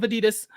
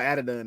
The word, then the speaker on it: Adidon: We got the story of Adidas last time, and Hey man, I don't know how to pronounce it. Don't Adidon. It's not a story of Adidon. So it's called Adidon. Is the story?